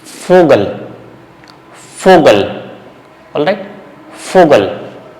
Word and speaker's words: Vogel: So here you have to be careful with fowl. Okay. The sound is F. Vogel.